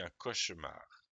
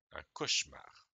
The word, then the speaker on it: cauchemar: Alors quand on lit, le E, en fait, c'est pas qu'il est muet, je pense, c'est qu'on le mange.